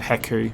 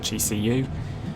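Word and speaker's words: HECU: people now it's a haiku some people pronounce it he see you which is the way i would agree that it should be pronounced because it's a an acronym but i guess you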